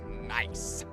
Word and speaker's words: NAIC: champion on the stage at neic pronounced nice pronounced nice as we see